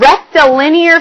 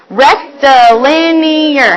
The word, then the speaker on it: rectilinear: today is area of rectilinear figures. That's a long word. Say it with me. Rectilinear. How many syllables is that? Rectilinear. That's a long word. 5 syllables, I heard you say.